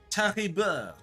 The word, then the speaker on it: Charibert: Charibert. Chari. You have to pronounce the R's, like in the back of your throat as well.